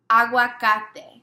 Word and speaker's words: aguacate: I say, is avocado, aguacate. Agua, like water, agua, cate.